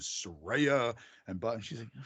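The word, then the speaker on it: Saraya: for this word and the actual pronunciation is Soraya and but she's like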